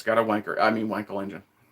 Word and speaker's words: Wankel: It's got a Wankel engine. I think it's pronounced Vonkel, but yeah.